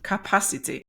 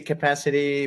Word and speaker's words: Kapasity: Well, the pronunciation is bilingual because, it's a wordplay with the word capacity. So whenever it's in English, I say capacity, but as it's spelled